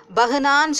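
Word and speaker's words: बहाना: ஆனால் பேக் அப்புறம் அந்த ஹே வந்து ஹாவாக மாறி இருக்கு இல்லையா, அந்த நேரத்தில் நம்ம என்ன சொல்ல முடியாது, பெஹுவா பெஹானான்னு சொல்ல முடியாது, பஹானா தான் சொல்லணும்.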